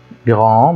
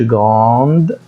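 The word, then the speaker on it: grand: او شذمه لما نشوف كلمه جرون جون ما بقولش جراند نو بقول جون جون بخنف كمان هنا او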